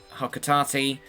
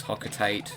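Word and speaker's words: Hocotate: And I always mispronounce the name. I'm going to be doing that the entire play through cuz I used to think it was Hocate the entire time.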